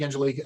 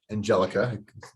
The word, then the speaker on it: Angelica: that's probably a topic Angelique that I want to I'm sorry Angelica mispronounced Angelique um Angelica that I will probably